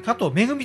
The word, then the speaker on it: 加藤愛: 、これね加藤愛と書いて加藤めぐみと読みますんで